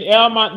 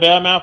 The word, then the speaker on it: Elmont: Now then, over at the UBS Arena in Elmont, New York. I know they call it Belmont for some odd reason. That city always leave out the B.